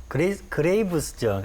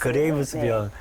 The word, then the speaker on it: 그레이브스병: 제가 그 학생 때 그레이스병은 그레이브스병 네. 말이 좀 어려워요. 네, 그레이브스. 그레이브스병. 의사님 저도 발음하기가 쉽지가 않는데 이게 그 갑상선 기능 항진증하고 거의 같은 말이다.